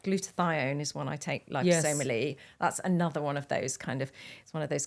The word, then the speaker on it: liposomal: to take it is liposomally same with vitamin C and so I'm a huge fan of so I call it lipo obviously be pronouncing it wrong for the last five years so liposomal yeah see I shouldn't just